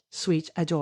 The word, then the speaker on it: Suite Adore: So first of all, Ashley has a company online called Sweet Adore. Is that how you pronounce it? Sweet Adore. Yeah, and it's sweet like hotel suite.